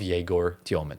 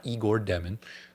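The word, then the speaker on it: Yegor Demin: a total bust of Yegor Dioman. That's how you pronounce his name. It's not Igor Demin.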